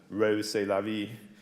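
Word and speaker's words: Rrose Sélavy: than one occasion and trussed up as ROS c'est la vie which pronounced in French sounds like arrows c'est la vie or arrows that's life so this is one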